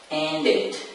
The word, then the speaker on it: ended: Is it pronounced ended or ended? Well, thank you. So the answer is ended.